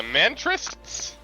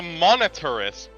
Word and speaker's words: Monetarists: The like, what did you say? The Mantrists? I think. Those are the monetarists.